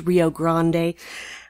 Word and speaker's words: Rio Grande: the rio grande that's how it should be pronounced rio grande who the hell is in command of ds9